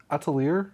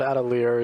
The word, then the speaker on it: Atelier: here Atelier I never know I've always said adelier yeah they said like you know Atelier or something like that French pronunciation I guess yeah yeah there